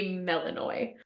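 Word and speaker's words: Melinoe: to talk to melano I Googled the pronunciation of that name because some of these underworld creatures were meeting here like they got some names um it is apparently melano um and she apparently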